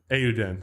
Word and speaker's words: Eiyuden: Eiyuden.